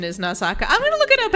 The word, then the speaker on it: Nausicaa: And right now, I'm pretty sure it's pronounced Nausaka.